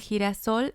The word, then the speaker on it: girasol: El girasol es bonito. It means the sunflower is pretty. And girasol uses the GI combination. That's why we pronounce it he.